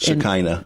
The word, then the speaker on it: Shekinah: I can't pronounce this. Shekinah.